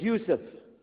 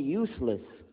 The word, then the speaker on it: Yusuf: My name is Yusuf. Can you say Yusuf? Let me say Yusuf. You're very good. I wish you'd teach my wife. She keeps mispronouncing it. She calls me useless.